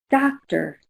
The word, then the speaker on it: doctor: You can simply say, "Listen, doctor. Doctor, what color is that sound? Right, it's olive. Doctor is olive, not rose.